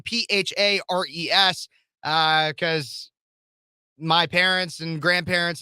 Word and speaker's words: Phares: last name Phares, because my parents and grandparents and everything just thought it'd be fun. And it's pronounced like Ferris Bueller, but spelled radically differently.